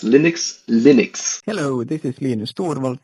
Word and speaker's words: Linux: and I pronounce Linux Linux hello this is Linux toal and I pronounce Linux as Linux like it's lus but you pronounce it Linux cuz there was that